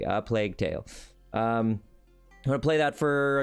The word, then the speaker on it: A Plague Tale: It's not A Plague's Tale that I've been screwing up so repeatedly. No, now we are saying it correctly. A Plague Tale.